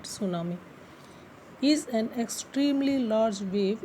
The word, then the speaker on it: tsunami: T is silent, so we will call it tsunami.